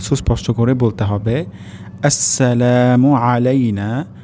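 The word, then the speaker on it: عَلَيْنَا: আসসালামু আলাইনা। প্রথম শব্দটি হবে আসসালামু আলাইনা। এখানে সিন আমাদেরকে সুস্পষ্ট করে বলতে হবে আসসালামু আলাইনা। আলাইনা এখানে আইন উচ্চারণ হবে।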